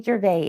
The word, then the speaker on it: Gervais: no I'm sorry Aunt Gervais okay tell us remind us how to spell Gervais g-e-r-v-a-i-s okay so Gervais the S is silent silence off the S